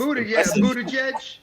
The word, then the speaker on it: Buttigieg: I think you said it right too. Like that's Buttigieg. Yeah, Buttigieg or whatever his name is.